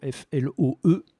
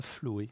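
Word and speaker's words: floe: Autre homophone, Flo, F-L-O-E. Qui se prononce Flo et non pas Floé.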